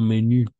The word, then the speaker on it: menú: Y ensuite, no menú. Sí, incluso si termina en S, no vamos a pronunciar. No menú, nuestros menús, sí.